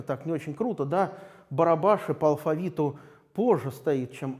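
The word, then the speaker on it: Barabási: и значит одного зовут вот если вы прочитаете это но мы какой-то условный латинский манер то у вас наверно получится бараба sim но он читается барабаш и барабаш и такая довольно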